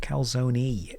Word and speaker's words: calzone: Kzone is calzone. It's pronounced calzone. Ends in the letter E.